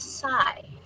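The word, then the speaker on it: psi: It refers to the 23rd letter of the Greek alphabet and is pronounced sigh.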